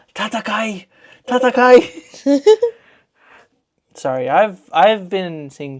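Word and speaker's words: 戦え: Yeah, Tatakai.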